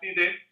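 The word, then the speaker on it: Diday: es el libro Bock Didet, del alemán Bock. Y Didet, quien fue, se escribe Didet, pero se pronuncia Didet en francés, mi profesor de doctorado,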